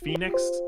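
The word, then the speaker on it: Fenyx: next week dumb boys immortals fenix rising it's pronounced phoenix um this is basically ubisoft's uh breath of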